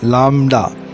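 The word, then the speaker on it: λάμδα: 9-10 के जो स्टूडेंट्स हैं जो हायर क्लासेस के हैं वो कई दफ़ा इसको लैम्डा पढ़ते हैं, तो इंग्लिश में हम इसको लैम्डा कहा जाते हैं, लेकिन इसकी एग्जैक्ट प्रोनाउंसिएशन जो है वो है लामडा, लामडा।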